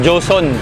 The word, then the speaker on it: Huson: Yun, tindahan ng mga ano din po, mga integrated amplifier at yung mga speaker na Huson or Joson. Yun po yung bigkas daw nun.